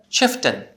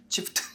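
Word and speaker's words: Chieftain: 마운튼 할 때 그거하고 똑같거든요. 예. 그래서 사실은 치프튼. 치프텐. 예, 치프튼입니다.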